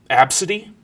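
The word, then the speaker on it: Abcde: my favorite was um absidy which is spelled AB bcde e uh or uh a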